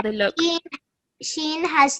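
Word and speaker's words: شين: Shine. Okay, nearly there. Sheen. Seen. Yes, well done. And what's the difference between these two letters in terms of how they look? Sheen has 3 dots.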